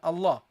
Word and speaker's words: Allah: you say Allah okay when you say Allah how do you pronounce it you say ah ah you start with this with this sound the sound of the hamza A a that's how you start.